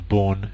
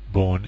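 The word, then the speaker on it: Bourne: Sports a version of what we call the born shell born is spelled b u r NE e as you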